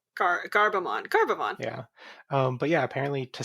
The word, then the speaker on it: Gerbemon: So I guess we can spell it Gerbemon but pronounce it Gabemon. Garbamon.